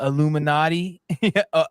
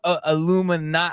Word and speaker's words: Illuminati: Got the Illuminati. Illuminati. I don't think I say it right though. Every time I try to tell somebody, they think I'm saying Illuminati, and I'm like, no, it's like naughty.